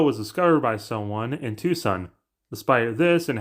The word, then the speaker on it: Tucson: discovered by someone in Tucson despite this and how you say it in English is not two Sun like two suns the world's largest rose